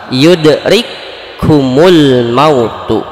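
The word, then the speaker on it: يدرككم الموت: Dua huruf di sini kafnya menjadi satu huruf, sedangkan huruf yang kedua menjadi bertasydid. Jadi ketika dibacanya itu seolah-olah bertasydid. Yudrikumul mautu.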